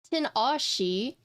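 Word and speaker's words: Tinashe: Okay, so Gawk is saying Tina Shay. Vin is saying Tanash. Captain Mike says Tanash. Yeg says Tina Shay. Tina Shi, Tin Ashi, Tina She, Tina She. Yes, see? We were just debating on how to say it, and I was like, it's Tina Shi.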